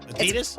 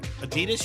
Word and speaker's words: Adidas: Adidas. It's Huh? Adidas, you say? So, it's supposed to be Adidas. Like they say the slight emphasis on the first syllable, not Adidas.